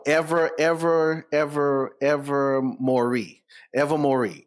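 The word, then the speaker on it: Ilvermorny: ever ever ever Mory ever Mory is it's spell weird but it's it's it's it that's how it's pronounced I listen to guy on YouTube five times to make sure I got it it's ever more see see normally I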